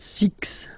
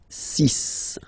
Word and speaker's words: six: so you get the sis pronunciation Sis Sis okay so it's not six it's sis all right then here